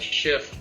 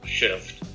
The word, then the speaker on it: XIVT: it's short for that we call it shift because xivt in german is pronounced shift but it deals with